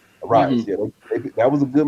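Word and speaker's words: Arraez: how you say his name from the Arise. Arise.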